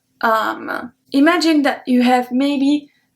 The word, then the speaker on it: âme: We will say une âme, âme. But because there is the accent circonflexe, we pronounce it longer. Une âme, âme.